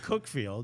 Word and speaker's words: Cuckfield: pronounce it Cookfield, but it's from Cuckfield.